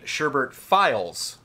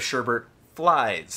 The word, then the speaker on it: Sherbert Flies: the January community showcase Brandon had pronounced the band name sherbert files instead of sherbert flies ah as is correct this led to Brandon